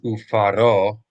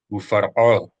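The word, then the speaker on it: וּפַרְעֹה: So again, not ufaro, but ufar. The resh, the R, belongs to the same syllable as the F. Ufar, far, that's one syllable.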